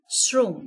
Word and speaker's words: শ্রম: তাহলে তালব্যস লিখবো আমরা তো এখানে শ্রম আমরা এস এর মত উচ্চারণ করছি সে কারণে দন্তস ব্যবহার করছি হসন্ত যথারীতি থাকবে এরপরে